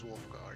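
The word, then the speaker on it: Wulfgar: My name's uh uh uh um But is is the way we pronounce him is it Wolfgar? It is Wolfgar.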